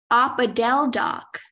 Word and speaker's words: opodeldoc: Your word is opodeldoc. Opodeldoc. May I please have all of the information? Opodeldoc is the only pronunciation.